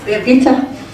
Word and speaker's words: Birgitta: So Hans and Birgitta, am I saying it right? Birgitta? Yes. Birgitta. Hans and Birgitta are our heroes, and we've seen them online.